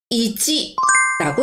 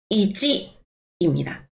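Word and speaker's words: いち: 1은 이찌라고 이야기합니다. 이찌입니다. 저럼 다시 한번 해 볼까요?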